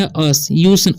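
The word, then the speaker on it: us: अस, यू का उच्चारण यहाँ पर अ हो रहा है, तो इसे पढ़ेंगे अस, उस नहीं पढ़ना है, ठीक है।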